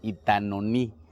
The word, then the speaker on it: Itanoní: acá en Oaxaca y Hoy estamos en itanoní así se pronuncia así así lo pronunciamos nosotros y tanoni y está